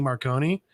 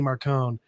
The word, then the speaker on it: Marcone: So I've always thought Gentleman Johnny Marconi. And then the audiobooks came out, and it's always Gentleman Johnny Marcone.